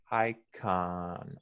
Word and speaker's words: icon: time i can okay uh the oh is that ah icon i can i can ah i can can you say it again think of the letter a ah like uh um what word